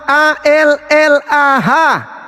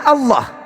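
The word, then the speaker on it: الله: Maksudnya tadi saudara sudah melihat Allah A L a H. Nah, bacanya apa? Nama Tuhan dalam bahasa Arab bacanya itu apa? Dalam dalam kaidah aslinya bacaannya Allah. Kalian menyembunyikan identitas Tuhan kami dengan membacanya alah.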